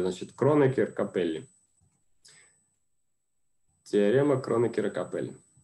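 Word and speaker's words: Кронекера — Капелли: Так, тут часто часто в этих фамилиях путают ударения, поэтому давайте я их проставлю. Значит, Кроникиркапеellли. Теорема Кронокера Капели.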